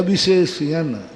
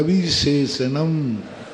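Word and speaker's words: विशेषणम्: देखो यहाँ थोड़ा उच्चारण ध्यान, कस्मात् कुवेत या विशेषयन, या विशेषयन बी के साथ या विशेषयन, या विशेषयन कस्मात् कुवेत या विशेषणम, कस्मात् कुवेत या विशेषणम, कस्मात् तातक फिर लेना कुवेत फिर यविशेषणम।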